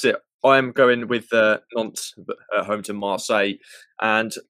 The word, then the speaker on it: Nantes: However you pronounce that? Yeah, Nantes.